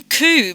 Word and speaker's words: coup: on it, and it's spelled COUP with the silent P, and I took a screenshot, which I'm just loading.